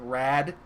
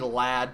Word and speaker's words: Lad: right here is called Rad. It's really supposed to be Lad, but it's the English, and the English is always weird because you take your L and you pronounce it like an R.